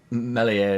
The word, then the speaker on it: Meslier: And then Meslier and Silent S in last minute, which save, it came off his face, didn't it, I think.